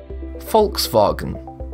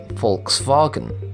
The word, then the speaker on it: Volkswagen: The German V is pronounced as the English F. The W is pronounced as the English V and A in wagon is pronounced as R. Therefore, you get folks vargon.